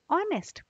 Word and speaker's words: honest: honnest we say honest here H is silent we don't say H sound here right so the sound